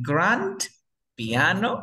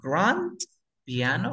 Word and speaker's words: grand piano: Así, grand piano, así, grand piano, ¿o cómo se pronunciaría, Daniela? Piano, piano. Exacto, grand piano. La D no se pronuncia porque se encuentra entre dos sonidos de consonante.